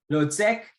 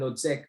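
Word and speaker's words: Hložek: to pronounce that name i think it's h-l-o-z-e-k so i would say lord sec um and uh it's it would be exciting to see what floyd edwards and lotsek are you know playing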